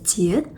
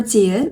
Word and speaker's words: 지읒: Yeah, your tongue goes at the similar position when you pronounce S sound and J sound. But your tongue touches your palate when you make J sound.